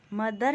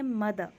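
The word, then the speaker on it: mother: माँ या माताजी को हम बोलेंगे मदर, मदर नहीं बोलेंगे मदर।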